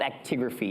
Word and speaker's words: actigraphy: there's a test called actigraphy it rhymes with the word activity it's like a monitor